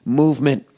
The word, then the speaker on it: MVMT: more to go oh mvmt movement watches pronounced movement was founded on the